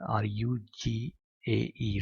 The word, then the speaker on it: rugae: That folds are called as a rugae, or whatever the pronunciation, R-U-G-A-E, rugae, or the kind of a villi or um, wavy appearance in a internal skin of a stomach.